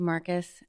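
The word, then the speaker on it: Marquis: My name is Marcus. Uh, for the record, the last name is spelled M A R Q U I S.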